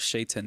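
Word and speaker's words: شيطان: It's called Shaitan, not Satan, And most people, when they pronounce the Quran, it's not Quran, it's Quran, right?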